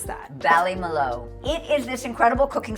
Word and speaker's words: Ballymaloe: How do you pronounce that? Ballymaloe.